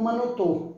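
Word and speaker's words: من و تو: Man vá tô. Eu e você. Que a gente lê como manotô, manotô, manotô, ou vê a gente transforma para o manotô, que significa o e português, né?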